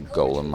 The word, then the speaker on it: Golem: empty ones onto your Golem. Or Golem, I suppose, as it's probably more properly pronounced.